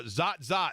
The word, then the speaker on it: Zot: it's but yes uh zot zot that's what UC Irvine is I thought it was zort zot zot the T-shirt I have has an ante eaters say Z zot ah okay that was confusing